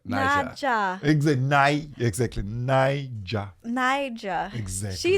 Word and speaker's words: Naija: Nad- The ER is like for them, like Naija. Naja. Exactly. Naija. Naija. Exactly. She's on Yeah. what we do in the shadows. That's a Naija.